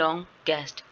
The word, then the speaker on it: longest: ठीक है, however the correct pronunciation of them is longer ई आर एंड longest। ठीक है, कि लॉन्ग लॉन्गर लॉन्गेस्ट। ठीक है, इसके ये तीन फॉर्म्स हैं सुपरलेटिव कंपैरेटिव डिग्री के इसमें।